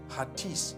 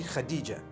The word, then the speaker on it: Khadija: In Turkish, some people spell it H-A-T-I-C-E. I would say Hatis for that. No, it's actually Khadija.